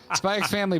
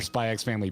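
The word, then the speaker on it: Spy × Family: We went on a proper Spy X Family binge. If you're new here, yes, I pronounced the X. No, I will not be correcting myself.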